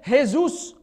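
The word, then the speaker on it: Jesús: the J sound and in Spanish they don't even pronounce the J they say hey Zeus hey hey Zeus even though it's written with a J so here we go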